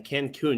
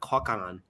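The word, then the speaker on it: Cancún: Well, my number six is that it's spelled CU N. Cancun, not Kauan.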